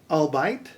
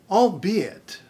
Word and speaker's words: albeit: wrong so askins askance biopic biopic infrared infrared albite albeit ari arai maisalt misled and there we have